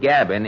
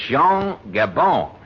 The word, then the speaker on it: Jean Gabin: Oh, not Gabin. It's Jean Gabon. Gabon? Yes, Jean Gabon. You pronounce it through the nose, you see.